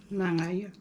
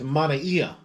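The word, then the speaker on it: manaia: Oh, it sounds like you were saying like a ng. Sound like a G. Ng. I do use G. But it's manaiya. Manaya. Oh, so it's not manaiya.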